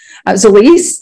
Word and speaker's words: Zilis: So Zilis is actually the way it's pronounced.